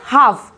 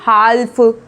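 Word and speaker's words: half: अब यहाँ पे भी देखो ए के बाद एल है तो एल को नहीं बोलते हैं, हम इसको बोलेंगे हाफ, ना कि हाल्फ।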